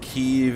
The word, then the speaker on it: Kyiv: being the united states kiev is the russian way of saying it keeve is the ukrainian way so we need to